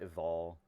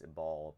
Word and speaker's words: Ebal: to correct myself um it should be mount eval um the pronunciation of it at least in hebrew it is now we've been we've anglicized it so it's a ball but in hebrew it should have been its mount evolve but anyway i'll let